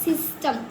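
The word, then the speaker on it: system: एस वाई सी एस वाई एस टी एम सिस्टम सीस पढ़ेंगे हम।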